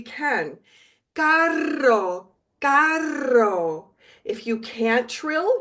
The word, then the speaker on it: carro: One way to say car in Spanish, because there's two R's, we know we should trill if we can. Carro, carro.